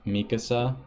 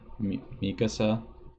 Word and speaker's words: Mikasa: Jean is pronounced Jean, and Mikasa is pronounced Mikasa. Mikasa.